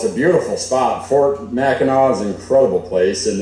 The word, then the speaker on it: Mackinac: so we see from michigan mackinac but it's mackinac how they say it yeah okay okay good